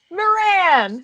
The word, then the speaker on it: Moran: I forgot to ask you how your last name is pronounced. Moran. Moran.